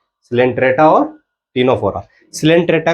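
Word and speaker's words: Ctenophora: टीनोफोरा। तुम कहोगे पिटेनोफोरा हो रहा है, तो पी साइलेंट है यहाँ पे।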